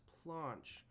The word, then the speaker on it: planche: and I believe it's a French word pronounced planche and if I apply